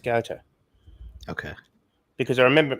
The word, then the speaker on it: Goethe: I think he met Goethe at because his mum would have what they called salons, and Goethe was a part of that.